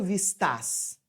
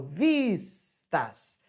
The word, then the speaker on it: vistas: sílaba mais forte tônica Eu não falo vistas eu falo vistas então a sílaba tônica é esta então não pode ser uma oxítona então também está errada